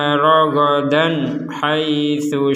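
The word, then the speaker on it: رَغَدًا حَيْثُ: Minha ragadan haitsu syi'tuma. Di sini juga ada tanwin bertemu ha, kita juga membacanya harus jelas.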